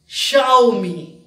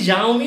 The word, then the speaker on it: Xiaomi: I mean it's not there so it is pronounces Xiaomi okay right it seems to be Jean me or something but no it's Shiro me Xiaomi